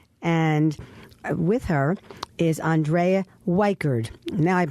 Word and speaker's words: Wikred: And with her is Andrea Wikred. Now I'm pronouncing her name correctly. Andrea Wikred, who is an accountant.